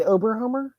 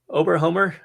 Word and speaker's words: Oberhummer: Did you say Oberhomer? Oberhummer.